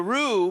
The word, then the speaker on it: Ru: So the roux part of my name has to do with the roux. It's not spelled the same way, but the roux of a gumbo.